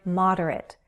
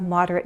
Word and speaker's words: moderate: More often I hear the word moderate. That can be a noun or an adjective. You can be a moderate, you can have moderate views. Repeat after me. Moderate. Moderate. 3 syllables, stress on the first.